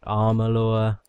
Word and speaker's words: Amalur: things I'll probably end up just calling it Amela but they pronounce it like armalore and it's really weird I just don't know